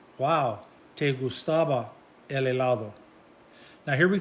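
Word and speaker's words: guau: way wow in spanish it's pronounced wow but it's spelled g-u-a-u wow g-u-a-u wow gustavo la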